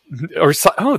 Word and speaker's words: CICO: Is psycho. That's a good way to pronounce it. Psycho, yeah, CICO. I was thinking Kaiko, Waiko, CISO, but psycho.